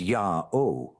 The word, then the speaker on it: YHW: it's translated into YHW, which properly pronouncing his name as Yah-O or Ye-O, which is literally the god the Israelites worshipped, later being pronounced as Yahweh.